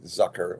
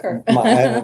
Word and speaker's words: Zucker: Well, thank you for pronouncing my name right. Really? I did this Zucker, correct? yes. Zucker? A lot of people say Zucker. All my high school teachers always said Zucker.